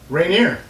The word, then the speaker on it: Rainier: Wast state today we have their main competition rineer rer is a French name r I think would be the proper pronunciation but I don't think anybody calls it